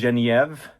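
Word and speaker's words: Genièvre: This is GENIEVRE. I think that's how you say it in French.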